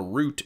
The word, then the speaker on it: route: I still haven't even done a route in Pokémon Go. I haven't followed a route yet or a route. I don't know if you say route or route. Route rhymes with a boot.